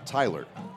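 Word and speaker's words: Thailer: that one spelled th a I le are Tyler it's a creative spelling on that one but yeah that's that is the official pronunciation of that one so the Bruins now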